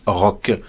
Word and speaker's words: Roch: Rock. R-O-C-H. Rock, tout court.